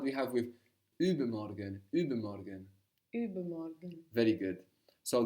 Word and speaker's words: übermorgen: The day after tomorrow is übermorgen. Übermorgen. Übermorgen. This literally means over or above tomorrow. Now the U here is spelled U with two dots above the U. This changes the pronunciation in German.